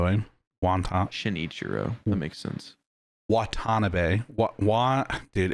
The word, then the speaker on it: Watanabe: So the last mode is called Watanabe mode.